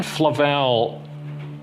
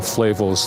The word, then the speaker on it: Flavel: who lends Credence to a different approach John Flavel I think along with Thomas Watson however a